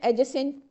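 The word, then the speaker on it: adjacency: डिसररप्टिव भी और supportive B then एडजेसेंट एजेंसी एजेसेंसी pairs इसमें डी साइलेंट है।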